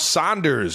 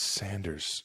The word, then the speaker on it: Sanders: Can you pronounce one of my teammates names right after Pascal, Isaac Seamalu, Miles Sanders? It's Sanders.